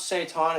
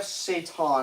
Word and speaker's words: seitan: When you pronounce seitan, it seems like the devil in Arabic, shaitan.